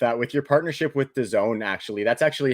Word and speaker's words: DAZN: probably been living under a rock and second the zone um that's spelled d-a-z-n is the best platform for anybody